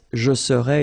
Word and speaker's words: serais: to translate directly this je serais, it's I would be. Okay? But then in French we've got only one form like that. Remember, so AIS, but then you don't pronounce the final S.